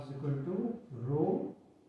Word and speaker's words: rho: You can pronounce it as a rho, RH-O.